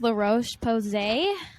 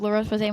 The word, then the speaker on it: La Roche-Posay: It's by the brand, I think it's pronounced La Roche-Posay.